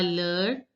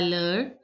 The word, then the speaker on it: l'heure: À l'heure. Last E is not to be pronounced. À l'heure.